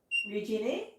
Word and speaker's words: Regine: Oh, no, she's phonetically spelling it Regine. Regine?